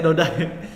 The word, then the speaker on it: Dody: Bacanya Dodai.